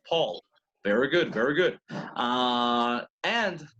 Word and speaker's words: Paul: how do you see Paul in English you spell it the same as in Spanish but how do you say it in English Paul Paul Paul McCartney so that's right Paul very good very good and another thing the